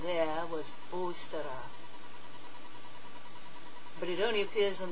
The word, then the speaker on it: Ôstara: The Anglo-Saxon heathens worshipped a goddess named Ôstara. I used to think that the best way to pronounce her name was Eostre, but I've changed my mind.